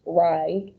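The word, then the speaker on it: Reye: what that represents um it might be pronounced rye so ray or rye or um uh this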